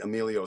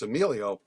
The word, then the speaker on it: Emilio: really tired of people pronouncing my name emil amal all email you know and so when i when i said okay uh it's emilio no one ever says it